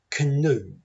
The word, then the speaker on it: canoe: We're going to do our best not to say the letters in red because they are part of the unstressed syllables. So say canoe. try your best not to say the A. Canoe. The first syllable is can. That tiny little schwa sound pops in when we're trying not to say a vowel.